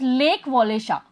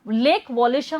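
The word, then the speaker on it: Lech Wałęsa: A farmer electrician of A shipyard लीच वेल्सा। अब वहां पर एक इलेक्ट्रिशियन था जिसका नाम था वो भी शिपयार्ड पे ही था, लेच वॉलेशा, प्रोनाउंस लेक वॉलेशा, लेक वॉलेशा हम प्रोनाउंस करेंगे उसको, ठीक है, जॉइन द स्ट्राइकर्स।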